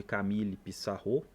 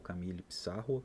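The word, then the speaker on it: Camille Pissarro: é uma pintura de Camille pissar né ou Camil Pissarro dependendo aí da pronúncia paisagem em ran né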